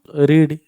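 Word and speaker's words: read: से ही नहीं ततीय एकवचन पढ़ इंग्लिश को रीड रीड पास्ट को रीड पास्ट हो रेड स्पेलिंग समान खाली उच्चारण प्रोनाउंसिएशन रीड रेड रेड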